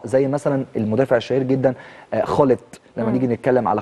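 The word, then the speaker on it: Gullit: وليس جاكبو او جاكبو لان الجيم في الهولنديه بتنطق خاء زي مثلا المدافع الشهير جدا خلت لما نيجي نتكلم على خلت دايما بيبقى الجيم في الهولنديه خ دي حاجه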